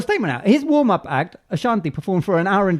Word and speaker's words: Ashanti: Why do you say it like a freshie? Ashanti. Well, because she's Ashanti. Ashanti. I'm thinking of a presenter. but no, say it properly.